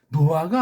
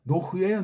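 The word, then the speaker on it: נֹחַ: 노아가 아니에요. 노흐예요, 노흐. 쌍이릇이 발음이 안 되면 한 개짜리를 좀 세게 노흐.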